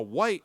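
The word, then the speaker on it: Wight: of white Wildlife trust now white not spelled like you know the color of our skin gu it's white w g HT which I had never seen before is that some British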